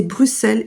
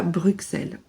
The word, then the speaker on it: Bruxelles: Beaucoup de Français prononcent le X de Bruxelles, c'est vrai, mais ça ne se prononce Bruxelles.